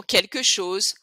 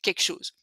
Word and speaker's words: quelque chose: turc, c'est vraiment français, quelque chose. Il y a quelque chose qui va pas aujourd'hui, quelque chose. Donc encore pour éviter de prononcer, donc on prononce pas le L, quel, et pour éviter de prononcer quelque chose, donc quelque chose.